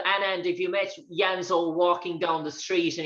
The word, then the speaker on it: Janzo: of sentences wait in in ireland would would you pronounce janzo yanzo do you pronounce the j with a yeah yeah yeah yeah it's just a song copy that because they do the same in in belgrade as well they also say yanzo and sanjanzo um i'm